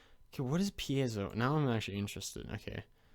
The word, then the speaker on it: piezo: it pronouns pi yeah piezo really it's pronounced like that not p ezzo i like pi zero